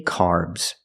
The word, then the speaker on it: carbs: it's more common carbs the a r makes the r sound like car and far the S makes a z sound like zebra make the vibration Z carbs carbs they say